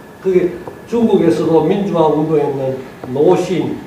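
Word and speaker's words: 鲁迅: 그게 중국에서도 민주화 운동에 있는 노신, 중국 발음으로 루신이 있습니다.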